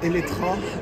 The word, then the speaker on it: Eletre: effectivement, Eletra, on le prononce avec un A sur le marché français notamment, même si ça s'écrit Elettre, tout simplement parce que